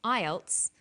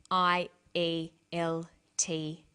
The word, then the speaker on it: IELTS: is called an acronym with an acronym we don't pronounce the individual letters we pronounce it as a word so we say IELTS not I al t is some other examples